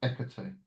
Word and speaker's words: Hecate: But yeah, it's Hecate, Hecate. Yes, Hecate. They don't Yes, pronounce the H in ancient Greek.